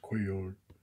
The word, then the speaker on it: Cuellar: This doesn't need, well, I guess so, because this is a actual 1977 card of Mike Cuellar, or Cuellar. That's the way they pronounce it on TV anyways, Cuellar.